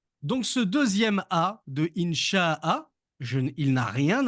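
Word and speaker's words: إن شاء الله: Insha'a. Alors que si je colle le Inch'Allah comme certains le font, on pourrait croire qu'il n'y a pas de Hamza et qu'il faut tout prononcer d'une seule traite. Inch'Allah, Inch'Allah, Inch'Allah, Inch'Allah.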